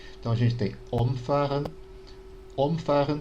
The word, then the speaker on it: umfahren: Umfahren, quando a gente tem a sílaba tônica no significa atropelar, né? Passar por cima. Se eu digo umfahren, né, com a sílaba tônica no fa, é justamente o oposto de umfahren.